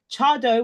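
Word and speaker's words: Tseaddo: the right hand side the one that's spelled TS e a d d o Cho is I know the pronunciation doesn't quite match up to how it's said but how how it's written that is now kind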